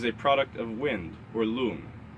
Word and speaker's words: lung: But how we experience the mind itself is a product of wind, or lung. The U is pronounced like the U in the word look, and it's spelled L-U-N-G, like lung.